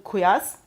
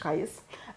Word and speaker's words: Qais: For example, we know in Medina, Zayd bin Thabit, in Mecca, Abdullah bin Saib, in Basra, Amir ibn Abdul Quyas, sorry for the pronunciation. Qais.